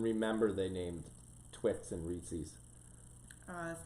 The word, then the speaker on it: Reese's: I don't know if Quinn and Olivia even remember they named Twix and Reese's. That's not how you pronounce it.